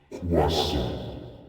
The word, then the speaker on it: croissant: It's pronounced croissant.